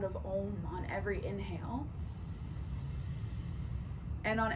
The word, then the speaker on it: Om: And we're going to use the sound of Om, O-M, or A-U-M, Om.